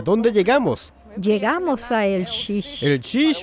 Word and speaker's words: LX: Llegamos a El Xix.